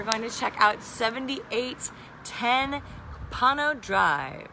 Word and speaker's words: Copano: And today we are going to check out 7810 Copano Drive. With a C, Copano. Copano. Versus what? I don't know, it sounds like Opano. Opano, but it's not. It rhymes with Opano, but it's Copano.